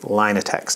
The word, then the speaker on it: Linatex: time there line attacks line attacks that is actually how it's pronounced line attacks and i